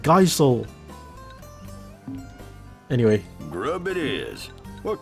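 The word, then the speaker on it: Gysahl: It's pronounced geesol? I've always called it geisel.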